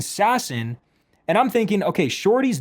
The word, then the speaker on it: Sasson: So he says it's it's pronounced Max Sassone. I don't know why he would pronounce it like that randomly, right? Clearly he pronounces it Sassone. But then Short House starts saying Sassin and I'm thinking, okay, Shorty's not going to